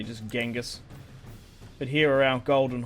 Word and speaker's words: Genghis Khan: say his name exactly because it's changose gone isn't it I'd rather say just ginga's but here are our